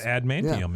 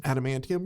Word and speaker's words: adamantium: he's got all that ad manum in him yep did I say that correctly adamantium yeah adamantium yeah I believe I